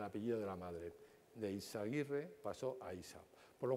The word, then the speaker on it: Eizaguirre: EISA es la, como lo veis ahí, es, bueno, es Cristóbal Balenciaga, se llama Cristóbal Balenciaga Eizaguirre, con Z. En euskera la Z se pronuncia como la S castellana.